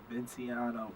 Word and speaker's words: Vinciano: We got Vinciano.